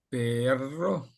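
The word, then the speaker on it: perro: мові якщо стоїть дві р то їх треба грчати а якщо одна то навпаки дуже м'яко казати бо перо означає але а перо означає собака Ану Тепер ви Спробуйте перо Ага А це Перро Перро Перро Перро Ага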